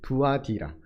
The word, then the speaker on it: 두아디라: 발음이 두아디라 루디아가 여기 자주어.